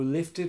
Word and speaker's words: lifted: Who lifted me high. Who lifted me high. How do you pronounce that?